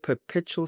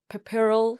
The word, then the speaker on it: puerperal: You said perpetual psychosis. What was the correct word? It's puerperal. Puerperal? No. Okay. I've actually totally deleted it out of my mind. It's puerperal psychosis.